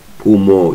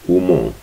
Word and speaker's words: umo: Mo is the accent is really on mo. Umo. Umo. Then the other way, the wrong pronunciation is Umo. They emphasize on U. So U is not. There is no emphasis on U. There is emphasis on O.